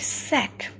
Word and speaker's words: sack: At first, see the word sack. S-A-C-K, sack. Okay, here you can find out only one syllable, sack, but there are two sounds. SA is sounded as sa and CK is sounded as ka, sack.